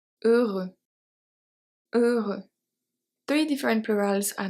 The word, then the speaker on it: heureux: H is never pronounced in French. We have heureux that we've seen before.